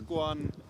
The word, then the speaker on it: Quan: It's Quan, not Quan.